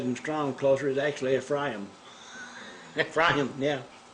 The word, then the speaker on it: Ephraim: in the name of the second he called ephraim i've been saying you know if rain for a long time but actually the the pronunciation i looked at him strong closer is actually a fry them fry them yeah like e p h f